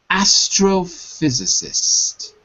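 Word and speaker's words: astrophysicist: left okay very good that word is tricky Astro physicist asop physicist mhm don't forget the S the S sounds like a z fiz s that's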